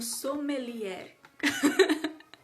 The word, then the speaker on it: sommelier: Foi sugestão dela, de Aline, ela que é minha comadre, especialista em vinho, sommelier. Ela disse que é assim que pronuncia.